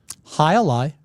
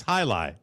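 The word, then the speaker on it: jai alai: High Ali is not It's high lie, is it? It's not high a lie. Well, I took a record. It's high lie. You don't pronounce the A.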